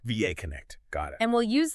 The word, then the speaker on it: VAConnect: And for everyone listening, that's pronounced VAConnect. VAConnect.